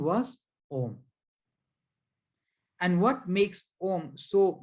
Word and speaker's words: Om: without needing your tongue so om is made up of three syllables these three syllables there's no need for your tongue all other sanskrit syllables